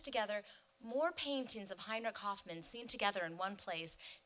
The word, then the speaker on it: Hofmann: So a German speaker would say Hofmann, but I hope you'll forgive me if I actually say Hoffmann during this presentation.